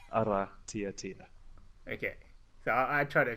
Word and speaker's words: Aratiatia: that how to say it's utter Tia TIA so you roll the r and then it's other tier Tina okay so i tried